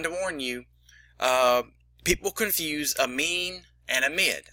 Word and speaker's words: amine: People confuse amine and amide. I know it sounds kind of alike. It's spelled very much similarly, but D is not N is not D. It's an amine, not an amide.